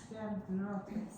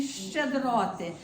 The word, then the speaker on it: щедроти: Всі свої ласки і щедроти. But the E, you can almost swallow it. And even if you don't say it, because musically, the way it comes out, you almost don't even hear it.